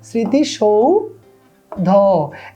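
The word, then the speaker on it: স্মৃতিসৌধ: তে কি হয় বলো ওকার দন্তস আমরা জানি যে উচ্চারণে বসে না তালবস হয়ে যায় তাহলে তালবস স্মৃতিসৌ তারপরে ধ আছে না স্মৃতি সৌ ধ এই হচ্ছে স্মৃতি সৌধর উচ্চারণ তো স্মৃতি সৌধ তুমি যখন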